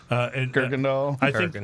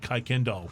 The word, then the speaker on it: Kuykendall: Kirkendall. I think Siri still calls it Kuykendall Road, but that's going to happen.